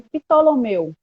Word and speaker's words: Ptolomeu: no Brasil a gente chama de Ptolomeu. A gente É pronuncia o exatamente P.